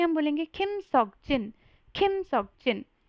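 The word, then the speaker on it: 석진: बोल सकते हो, लेकिन अगर आपको कोरियन नेम बोलना है तो वो है किम सॉक जिन। अभी इसको बहुत सारे लोग किम सियोक जिन या फिर किम सोक जिन बोल देते हैं, जो कि गलत है।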